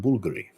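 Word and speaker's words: Bvlgari: house is Tiger that's Bulgari bv-l-g-a-r-i Bulgari it's pronounced Bulgari there you go so it's actually a v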